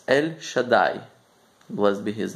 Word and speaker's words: El Shaddai: But one of the names of God is actually, I'm going to pronounce it, it's El Shaddai.